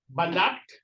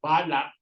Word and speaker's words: balat: Remember the stressing. It's balat. La. Balat. It means skin. There's another word with the same spelling which is pronounced as balak, which is birthmark. Okay, so when you say balak, it's birthmark. When you say balat, it's skin.